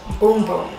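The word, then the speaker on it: Bum Bum: I get to wear it's actually pronounced boom boom Brazilian boom boom cream I've been saying it wrong this whole time but you know we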